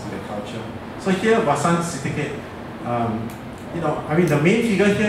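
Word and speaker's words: Vasan: A work by a Thai artist, very famous Thai artist, Wasan Syndicate. Okay, the V is pronounced as Wasan, right?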